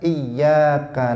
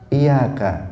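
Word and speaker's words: إِيَّاكَ: membuang tasydid pada ayat iyyaka na'budu. Iyyaka itu kan ada tasydidnya. Kalau seseorang membuang tasydid dari iyyaka, dia membacanya dengan iyyaka. Dia mengatakan misalnya, banyak kita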